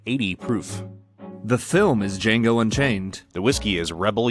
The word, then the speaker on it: Django: at the 2012 film Django Unchained the D is silent the D is silent